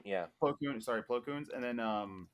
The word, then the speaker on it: Plo Koon: had a really cool helmet, and he was Ply Koons, I believe is how you say his name. Plo Koon. Yeah. Plo Koon, sorry, Plo Koons.